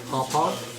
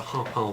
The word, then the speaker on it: Harpal: It's just an emphasis on the wrong syllable, that's all. Harpal? Harpal. Emphasis on the second syllable.